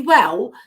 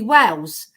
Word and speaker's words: Wale: I remember Sidney Well because my dad, he used to call him Sidney Wells, but he didn't come from Wales. He said his name wrong.